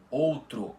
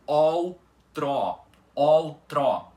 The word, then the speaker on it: outro: Então invés de você pronunciar outro ou outro outro você vai ter que pronunciar como ol trót com os dois ós da palavra abertos.